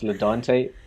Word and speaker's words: Ladonte: don't take what i just realized i mispronounced your name so it's ledante so if anyone like